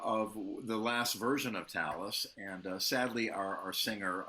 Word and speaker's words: Talas: which is so great yeah that's amazing so so Talus is if I'm pronouncing it correctly like Talisman right that was the